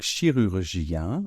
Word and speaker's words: chirurgien: rure chirur gen et alors à la fin évidemment on a ce son G qui ressemble un peu au hein de chocolat mais qui laisse davantage passer l'air donc chirurgien attention on a I suivi de la nasale 1 donc i I d'accord je répète chirurgien chirurgien au féminin ce